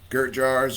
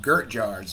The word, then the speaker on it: Gert Jaars: want to look up Gert Jars. That's capital GERT JAA. So that's JAARS. Okay, so let me spell it again. Capital GERT JAARS. Like Aaron.